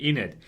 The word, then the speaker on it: Enid: Jeez, I always get her name wrong, man. It's such a weird name. Enid. Yeah, that's it. Enid.